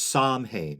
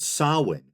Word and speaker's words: Samhain: ha which is incorrect the Irish alphabet is based on the Latin alphabet which had been introduced to Ireland in the fth century by British missionaries it lacks the letter W and the MH in the middle of the word sawin represents a kind of Hiatus between syllables which is generally pronounced with a W sound sawin or sawin I